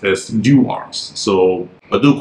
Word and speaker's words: Dewar's: it has been made known to me it's pronounced as D arms so but do correct me if I'm still